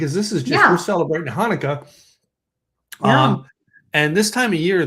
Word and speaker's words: Hanukkah: The Hebrew word is actually pronounced with the guttural sound, Hanukkah, not Hanukkah.